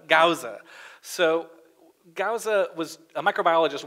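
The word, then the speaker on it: Gause: Is that how you pronounce his name? Gauza.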